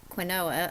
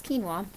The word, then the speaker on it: quinoa: If you've not had quinoa, it looks like when it's pronounced as like quinoa, a lot of people think it is, but it's quinoa.